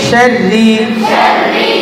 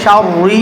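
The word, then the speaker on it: شر: মিশারি মিশরিশারি শাররিশারি অনেকে এখানে শারি বলে এটা ভুল এটা বলা যাবে নাশারি শারি শাররিশারি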